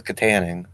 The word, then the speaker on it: Katanning: six six five i do know how to pronounce that that is katanning okay it's back in my neck of the